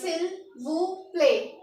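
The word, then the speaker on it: s'il vous plaît: पी एल ए वाई तो इसको क्या पढ़ेंगे सिल वू प्ले क्या पढ़ेंगे सिल्व प्ले तो हमें फ्रेंच में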